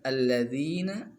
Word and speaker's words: الذين: Kemudian lafaz alladzina, ini mad asli, jadi harus 2 harkat dibacanya, nggak boleh lebih dari 2 harkat.